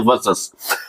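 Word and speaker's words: versus: इसका मतलब होता है, इसका प्रोनाउंसिएशन होता है वर्सेस।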